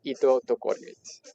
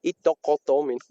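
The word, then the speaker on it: Ittoqqortoormiit: in the town of Itotokormit. Itokotomin. Itokortomin. It's just like you could also pronounce English words quickly, like eat, cut, duck, door, Meat. Eat kataktormit.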